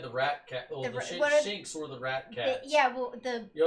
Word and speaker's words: Shinx: Yeah, Shinx.